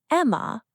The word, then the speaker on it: Emma: Are you the Emmy family? Almost. It's Emma, but yes, that's us.